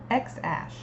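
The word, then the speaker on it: X Æ A: On a podcast, Musk said the first part is pronounced X-ash, with X read like the letter.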